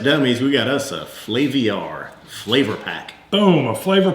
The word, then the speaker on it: Flaviar: Or you said it the way I said it. I think so. Flaviar, it's got an IAR in there.